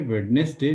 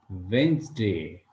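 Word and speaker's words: Wednesday: pronounce करो बोला यह वेडनेसडे नहीं है यह है वेनसडे इसमें बहुत सारे लोग गलती करते हैं इसको वेडनेसडे पढ़ते हैं लेकिन यह वेडनेसडे नहीं है इसको ध्यान रखना है इसके बाद थर्सडे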